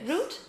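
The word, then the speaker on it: Route: good so okay but your real name is Destin yeah root yes that's how you pronounce it it's Justin yeah that's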